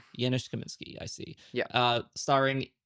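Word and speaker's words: Janusz Kamiński: Uh or uh uh Janice uh Yanis Kaminsky. Yianis Kaminsky.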